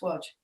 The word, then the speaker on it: Wadge: does yeah w-a-d-g-e to confuse everyone but it's pronounced watch don't ask me why how how big how